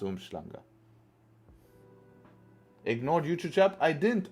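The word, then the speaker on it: Umhlanga: different but it's spelled umlang I mean it's pronounced umanga ignored YouTube chap I didn't I'm scrolling down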